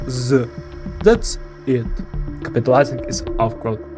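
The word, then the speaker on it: З: Sounds like Z. That's it. Capitalizing is awkward. C tier. That's how we pronounce it.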